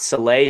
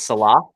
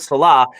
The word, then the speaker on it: Saleh: pronouncing his name wrong it's not soleil it's salah i actually knew that but i don't know why we're just so excited we're pronouncing his name wrong so it's robert salah and i am just